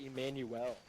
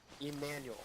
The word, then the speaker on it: Emmanuel: your name emmanuel okay i always end up saying it too mexican i always say emanuel emmanuel okay i just i